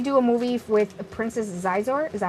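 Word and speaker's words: Xizor: I hope they do a movie with Princess Zizor. Is that how you say it? Him and Vader. Prince Sizor, yep.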